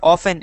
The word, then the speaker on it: often: Often or often? Is T silent or not? Often. Often, not often. It's pronounced often without a silent T.